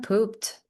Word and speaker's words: pooped: And I'm pooped. Again, we have the T pronunciation for this ED sound.